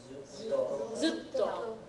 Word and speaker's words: zutto: The next one is zutto. Zutto. Again, a little bit of an extra T sound in there.